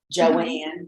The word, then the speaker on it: Joanne: doors down for me Joanne that's how you say it and so Joanne Joanne looks like Joe Wayne yes Joanne and um